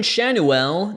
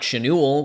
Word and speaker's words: Schanuel: to re-record this cuz I was totally saying the next player's last name wrong Nolan shanu not chenu was Big League ready